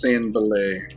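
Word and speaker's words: Sanbalet: Pronounced San Belay.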